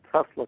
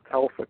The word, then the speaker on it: Tesla: which is performed using a Tesla coil, a Telsa coil, as I used to pronounce it back in those days.